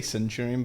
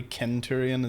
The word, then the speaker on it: Centurion: I want to say Centurion, but apparently Kenturion is pronunciation.